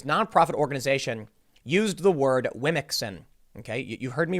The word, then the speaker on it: Womxn: organization used the word Wimixin. Okay, you heard me right. Wimixin. WOMXN. It's supposed to be pronounced women, I guess.